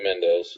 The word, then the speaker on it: Mendes: got and I'm probably going to say his name wrong is it Sam Mendes yeah Mendes that's yeah um American Beauty uh road to